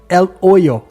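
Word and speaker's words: El Hoyo: depois a pronúncia e percebi que o h nesse caso ele não existe então é el o que seria oosso em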